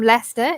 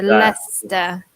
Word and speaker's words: Leicester: Soleil knows definitely I'm from Leicester in the UK which in itself is quite difficult to pronounce yes oh my goodness also change Shia but if it's in a word we did see Shia Worcestershire Yorkshire as a classic it is yeah that's a Lester Lester yeah so if you